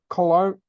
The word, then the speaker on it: colonel: If you look at the word kernel as in military, it's like colonel.